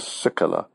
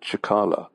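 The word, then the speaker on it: Cicala: One was known as HMS Sikala, although I think they pronounce it Chikala. But anyway, I always pronounce it Sikala, which may be wrong.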